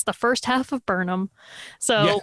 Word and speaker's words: Burnham: like first of all it's pronounced burnham not burden yes second of all i'm